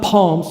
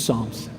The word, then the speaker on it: Psalms: And I love reading through the Psalms. This book is not Psalms. Some people say that. It's Psalms. P is silent.